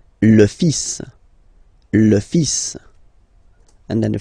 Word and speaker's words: fils: So it's le, and then even if you've got this L, well, basically you don't pronounce it, and then strangely you pronounce the final S. Le fils. Le fils. Le fils.